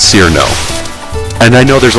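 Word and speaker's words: Cirno: over how her name is supposed to be pronounced. And in Japanese, the Japanese phonemes for it, as rendered in kana, would be Chiru no, which is kind of like Zun's really weird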